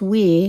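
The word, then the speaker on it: Oui: However, wee yogurt, it's pronounced wee, because I guess it's French.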